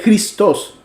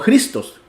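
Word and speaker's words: Χριστός: por ejemplo la palabra cristos se pronuncia cristos con el énfasis en la o y no cristos como sería en español que haciéndole el énfasis en la i Así que afectaba un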